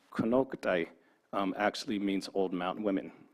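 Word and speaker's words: Konocti: So Konoktai, which in our language is actually pronounced Konoktai, actually means old mountain women.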